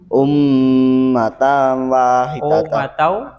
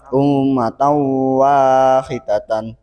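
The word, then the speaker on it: أُمَّةً وَاحِدَةً: Idombiuna, karena ada fathah tanwin bertemu huruf wawu. Cara membacanya masuk dengan mendengung. Nah, yaitu bacanya Ummatan wahidatan. Ummatan wahidatan.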